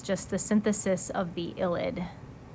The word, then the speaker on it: ylid: This little guy right here, this reagent, is called an ylid, pronounced ill-id.